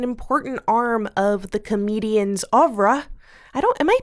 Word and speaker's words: oeuvre: The idea being that social media is an important arm of the comedian's oeuvre. Am I pronouncing that right? Oeuvre. Oeuvre. You have to have a little bit more snobbishness in your voice.